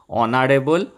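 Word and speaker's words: honourable: Honest, এই যে এইচের উচ্চারণ যখন অ বা আ হয় তখন তার আগে কিন্তু অ্যান বসে। হ না হয়ে যদি অ হয়, যদি হর্স হতো এ হর্স হতো। অনেস্ট অ উচ্চারণ হচ্ছে, তাই জন্য অনেস্ট, অনারেবল, আওয়ার, এই 3টের আগে অ্যান বসে।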